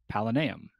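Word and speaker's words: Palanaeum: this this place is called the palaneum good good that's how they say it in the book paul can you can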